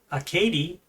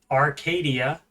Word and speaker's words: Acadie: the French colony of Acadie. Apparently that's how you pronounce it, and not Arcadia, as I think it was said on the show incorrectly. As you can see, it's